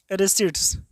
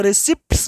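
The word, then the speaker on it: receipts: वो अंग्रेजी वाला सर आपको बता दें, यहाँ पर पी का उच्चारण होगा ही नहीं। इसको रिसिप्ट्स नहीं पढ़ेंगे, अर्थात पी का उच्चारण नहीं करेंगे। टी पी क्या होगा? साइलेंट रहेगा, तो रिसिट्स हो गया।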